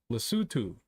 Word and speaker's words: Lesotho: How do you pronounce it? Lesotho.